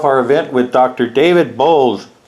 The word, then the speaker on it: Bowles: David Bold. Right? Did I pronounce it right?